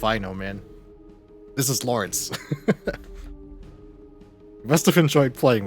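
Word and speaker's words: Lorence: So this is Lawrence. Joshua says his name. I always pronounced it low, but I guess it's like a German name.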